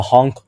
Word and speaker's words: HONC: Now, one trick that might help you remember how many bonds an atom can make is the honk 1, 2, 3, 4 rule. So it's spelled HONC and then 1, 2, 3, 4.